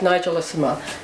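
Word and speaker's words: Nigellissima: our all-time favorite authors for your new book Nigel is uma did I say it right perfectly well I'm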